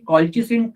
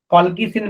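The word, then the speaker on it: colchicine: हाँ बेटा, अभी क्या बोला कि ये कॉल्चिसिन केमिकल क्या होता है, आपको पता है कॉल्चिसिन के बारे में? कॉल्किसिन बोल सकते हैं, कॉल्चिसिन बोल सकते हैं, अलग अलग हो सकता है उसका प्रोनाउंसिएशन।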